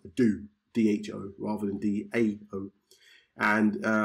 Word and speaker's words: DHO: and they've created decentralized holonic organizations, which is pronounced DO, D-H-O, rather than D-A-O.